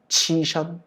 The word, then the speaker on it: 栖身: 年少阶层 이 흑수저 계층들의 장久性 아주 장기적으로 이루어지는 치션 몸을 두는 치가 서시가 날 때 서자예요. 발음 조심하십시오. 시라고 읽지 마시고 치입니다.